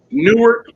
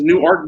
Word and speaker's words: Newark: oh well so they're they're spelled the same it's just a difference in pronunciation so there's Newark New Jersey and there new ark Delware well we get Johnny mags